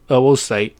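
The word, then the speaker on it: oocyte: heard the name right it's literally pronounced oo site as an oh whoa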